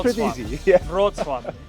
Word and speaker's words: Wrocław: But it's, how do you pronounce the city name? Wrocław. It's pretty easy. Yeah. Wrocław.